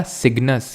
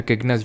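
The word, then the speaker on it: Cygnus: ये है हमारा सिग्नस या फिर किग्नस, जो भी इसको प्रोनाउंस करते हो।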